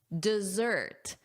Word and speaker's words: dessert: Notice here, desert. As zzz. So, you want that z sound, that buzzing like a bee. Zzz. Desert. Desert. And let's compare this against chocolate or sweets at the end of a meal, which is of course, say it out loud, dessert. Dessert. Dessert. Desert sand, dessert sweets.